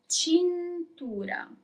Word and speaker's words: cintura: Belt is cintura. You pronounce all the letters. Cintura.